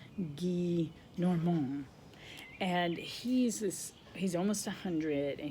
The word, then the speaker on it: Gillenormand: Guy Normand, Gillenormand. So I think it's pronounced Monsieur Guy Normand.